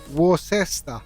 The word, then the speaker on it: Worcester: I love how the Americans struggle to pronounce that. Worcester.